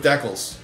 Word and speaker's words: decal: raised in western Canada it rhymes with Freckle now hopefully you don't